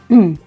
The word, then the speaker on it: train: Je ne prononce pas le N.